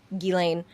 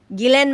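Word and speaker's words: Ghislaine: Or as Americans would say, Guileain. Guilain Maxwell. Gillen. Gilen Maxwell is is actually how it's pronounced.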